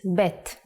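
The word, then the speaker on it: בית: the second character is BET The Sound of pet is ba and it looks like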